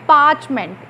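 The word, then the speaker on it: parchment: Today the site of this पार्चमेंट, अब ये word भी बड़ा इंपॉर्टेंट है, पार्चमेंट, इसमें आर साइलेंट होता है।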